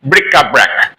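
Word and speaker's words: bric-a-brac: bra remember this word it is very rhythmic brick a bra it'll be easier for you to understand if you read this word if you pronounce this word a little rhythmically okay let's move on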